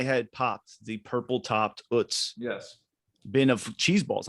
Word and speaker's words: Utz: Popeyes, Utz, Utz is the correct German You- pronunciation, and I will have to be Utz?